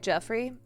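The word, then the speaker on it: Giuffre: Zufra, pronounced like Jeffrey.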